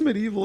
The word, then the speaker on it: MediEvil: yeah yeah Medi eval just cuz it's just medieval it's not sty isn't it spelled no it's